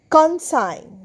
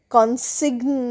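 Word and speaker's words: consign: কনসাইন সি ও এন এস আই জি এন কনসাইন কনসাইনেও কিন্তু জি এন পাশাপাশি সজি জি এর উচ্চারণ হচ্ছে না। সো কনসাইন কনসিগ নয় কনসাইন।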